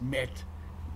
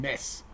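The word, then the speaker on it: מת: That word is met. This the modern Israeli pronunciation. Emes and mes would be the Ashkenazi pronunciation.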